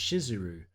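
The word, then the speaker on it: Shizuru: of the Goddess is actually spelled and pronounced shiseru or that misspelling it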